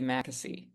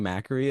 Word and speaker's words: Mackesy: When I read the cursive, I kept reading Mackery and then I couldn't remember which one's right. And I know I was going to say it wrong.